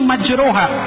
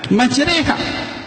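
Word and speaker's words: مجريها: bismilahi majreha wa mursaha ditulisnya majroha dibacanya majreha WA nya kumpul bilang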